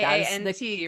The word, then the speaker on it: Kant: I was told that K-A-N-T, right? Correct way to pronounce it is very close to the bad word that I can't say.